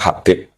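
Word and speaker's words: حبيب: Itu di harokatnya kitab itu ada yang nulis Hubab. Nah, yang benar, yang benar itu bacanya Habib.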